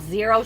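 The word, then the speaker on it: Xero: Like I really like the shoes called zero shoes, but it's spelled X E R O.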